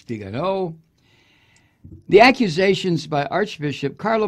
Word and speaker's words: Viganò: I know it's pronounced by the TV dumbfucks as Viganò. It's not. It's Viganò.